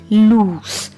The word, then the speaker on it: loose: But L-O-O-S-E is pronounced as loose, loose. Here letter S has S sound.